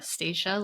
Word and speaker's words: Stacia: me I'm staa staa like Anastasia no Anna uh for those who need